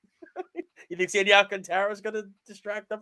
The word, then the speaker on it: Alcantara: And I finally we got his name pronunciation correct. Sandy Alcantara.